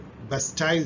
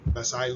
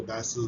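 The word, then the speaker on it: Bastille: On which day France celebrated बेस्टाइल डे? इसको pronounce तो मैं गलत कर रहा हूँ, फ्रेंच में आप कुछ बेसाइल कुछ बोलते होंगे, बेसिल day, also known as France national day या इंडिपेंडेंस डे।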